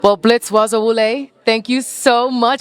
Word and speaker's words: Bazawule: Well, Blitz Bazawule, thank you so much. Did I pronounce that correctly? Bazawule. Bazawule. I said Bazawule. Awesome. I didn't hear the Z though.